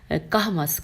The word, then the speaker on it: کہمس: لکھا ہے نیز ابھی کوہمس, اب ہجے کر دیتے ہیں, الف بے چھوٹی ہے اور کاف ہے میم سین. کہمس, کاف پہ بھی زبر ہے اور ہا پہ جزم ہے اور میم پہ زبر ہے اور پھر سین ہے.